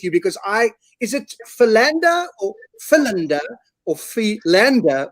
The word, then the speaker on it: Philander: to say your name i've heard pilende as well so yeah you know that's how i grew up so that's that that